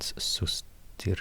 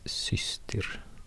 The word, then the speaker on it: systir: So it's not sustir, it's systir.